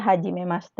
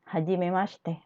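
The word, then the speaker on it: hajimemashite: dozo yoroshiku dan C huruf c dan i-xi ini ininya melebur juga jadi seperti hilang douzo yoroshiku sama seperti hajimemaste yang ini Ndak hajimemaste ini melebur yang ini see hajimemaste seperti itu Hai selanjutnya sak ketika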